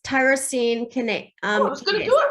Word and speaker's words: tyrosine kinase: is, and I didn't look up how to phonetically say this. I actually can. My organic chemistry and biochemistry will, it's tyrosine kinase.